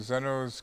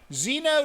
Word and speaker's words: Zeno: This is from Zeno's Curious Goods in Eureka. Zeno is the way I would pronounce that.